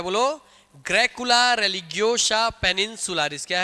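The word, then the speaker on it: religiosa: नहीं, रेलिजियोला नहीं, और अच्छे से प्रोनाउंसिएशन सही करना पड़ेगा। बोलो क्या है? हाँ, याद कराया था ना। रेलिज, हाँ, रेलिजियोलिस बोल रहे तुम लोग। रेलिगियोसा है वो, रेलिगियोसा।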